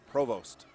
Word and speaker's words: Provost: And then I also checked on is it Provost or Provost? And it's Provost. Provost. Accent on the first O, so we want to get those right.